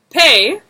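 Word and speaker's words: פ: So, pay, when with the dot, p. Without the dot, it's f, like an F sound.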